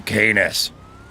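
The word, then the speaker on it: Canis: All of a sudden, everybody drives the uh the kenis rhymes with anus.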